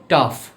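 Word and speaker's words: tough: আজকে আমরা জানবো যেমন জিএস জাতীয় কিছু শব্দ আছে যেগুলোর উচ্চারণ ফ এর মতো হয় আবার জিএস দ্বারা এরকম কিছু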